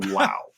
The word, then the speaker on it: Lou: This is a 3-star review from Lou, rhymes with wow. So from Lao.